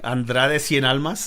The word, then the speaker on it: Andrade Cien Almas: Andrade Cien Almas and Sin Cara.